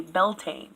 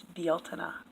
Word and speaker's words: Beltane: pronouncing BL Tina wrong they say Beltane and it's not it's BL tuna now I guess this